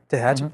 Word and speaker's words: Tehachapi: I'm sorry if I mispronounce the name of the city. My wife makes fun of it. Is it Tehachapi? Tehachapi.